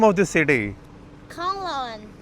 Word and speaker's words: Kanlaon: How you pronounce the name of this city? Kanglaon. Khanlaon.